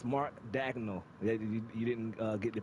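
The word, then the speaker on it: Daigneault: appreciate it one more note um it's Mark dagel you didn't uh get the pronunciation on that Martin dagel That's the uh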